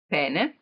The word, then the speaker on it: pene: So, number one, pene, with the P of Palermo, pene, means penis, right?